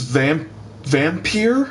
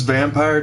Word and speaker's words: Vampyr: This is Vampyr, or I guess it's Vampire technically, but it looks like Vampyr since it's spelled V-A-M-P-Y-R.